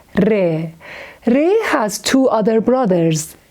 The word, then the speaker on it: ر: Re is exactly the same sound with R in English, but we pronounce re with more pressure.